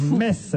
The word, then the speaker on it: Metz: ne prononce pas le T. Je suis moi-même messin et sache qu'on doit dire Metz.